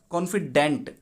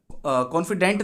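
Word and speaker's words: confidant: कॉन्फिडेंट नहीं बोलेंगे, sorry, इसको कहेंगे कॉन्फिडांट। ढंग से स्पेलिंग देख लो, नीचे वो लोगो आने की वजह से दिखेगा नहीं तुम्हें शायद। कॉन्फिडांट, कॉन्फिडांट CONFI है, FIDANT, कॉन्फिडांट। अब ये कॉन्फिडांट क्या है? कॉन्फिडांट ही पढ़ेंगे इसको।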